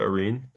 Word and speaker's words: Arene: Is that the way to pronounce it? Arene? Yeah, yeah, Irene, that's correct.